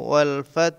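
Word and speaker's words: وَالْفَتْحُ: ওয়াও লাম জবর ওয়াল, ফাতা জবর ফাত, ওয়াল ফাত হাফেশ হু, ওয়াল ফাত হু। কিন্তু এখানে অক্ষ হয়েছে বলে হার উপরে জজম দিতে হবে। ওয়াল ফাত, এরকম উচ্চারণ হবে।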